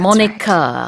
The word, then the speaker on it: moniker: 스펠링이 다른데 이 이름 name이라는 뜻이에요. M-O-N-I-K-E-R That's 모니카 right.